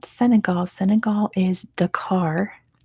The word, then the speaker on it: Dakar: not Senegal Senegal is Dakar as in you're driving the car Bangladesh is yeah there's